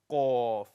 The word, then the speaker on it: qaf: Now, I know some of you try to pronounce qaf, but it comes out as k. Makkah, like Makkah. Yeah? Makkah. And the reason that you pronounce qaf as kaf, because you're pronouncing it slightly further down, and this is where kaf comes from.